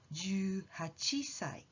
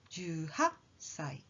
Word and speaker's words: 18歳: Try jumping up when you say the sound before the small tsu, like 18歳 or 21歳, and you will get the right sound.